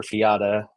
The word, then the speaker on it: Fiadh: My youngest daughter's actually, her name is Fia. It's Fiadh, and so we've had a heck of a time, making sure that everyone knows it's not Fiad or Fiata, but her teachers have